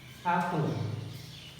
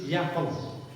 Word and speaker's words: apple: An apple, apple, an apple. Although we say apple, yeah, it is not actually yapple, an apple.